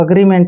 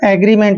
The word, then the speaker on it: agreement: तो अग्रीमेंट means होता है समझौता। इसको हम कई बार एग्रीमेंट भी बोलते हैं, तो एग्रीमेंट और अग्रीमेंट दोनों ही ठीक है।